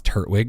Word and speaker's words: Turtwig: Please pronounce Turtwig right. That is right. Unless you're really big on the second T.